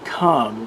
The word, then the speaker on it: c0m: viral rewind we're going to look at the comm dos virus it's also known as c 0